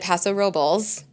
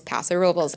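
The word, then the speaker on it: Paso Robles: yes there is there is there a traditional uh Spanish pronunciation absolutely but we also don't say like Los Angeles like it's not we say Los Angeles like so anyway back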